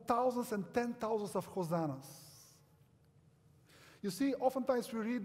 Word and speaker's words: Hosanna: You see, Hosanna, Hoshiana, as it's pronounced in Hebrew, is actually a plea.